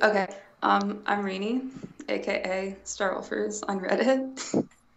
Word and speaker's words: Renee: So, Ted, and I'm gonna pronounce it wrong. Can you do it one more time for me, please? It's Rainy.